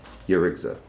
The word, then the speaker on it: Yarigza: How do you pronounce that? Yurigza.